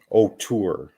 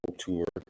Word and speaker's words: O'Toole: O'Toole. That's how you pronounce his name. You're a goat. That's how I pronounce it. O'Toole. That's how I pronounce it.